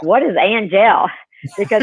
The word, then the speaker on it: Angelle: Angelle, it's the A-N is pronounced like O-N, but you don't even finish the N. It's ah. And then the last part is gel, like Jacques Cousteau, but it's Angelle.